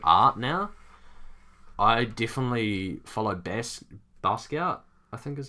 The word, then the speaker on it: Basquiat: Like, especially art now, I definitely follow Basquiat, I think is how you say his name, Basquiat.